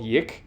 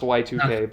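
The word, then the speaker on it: YIIK: came out last year or the year before called Yik. It's pronounced Y2K, but it's Yik because it's supposed to be the year 2000, like the Y2K bug.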